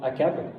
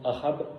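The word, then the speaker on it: Achab: Là, c'est un autre roi, c'est au temps du roi Akab, ou Ahab, ça dépend comment on le prononce ici ou là-bas, et de sa femme Jézabel, un autre personnage illustre, mais pas pour les bonnes raisons.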